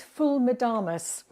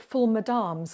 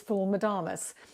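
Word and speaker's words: ful medames: which is full madamas I always used to call it full madams because it's spelled m-e-d-d-a-m-e-s but I was told quite firmly recently on a Viking river cruise in Egypt that it's full madamas and fool means bean and so that's where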